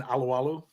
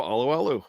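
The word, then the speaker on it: Alualu: Dave I'll let you say because I never pronounced the name right Tyson aloalo yep there you go aloalo yeah not drafted by the Steelers no drafted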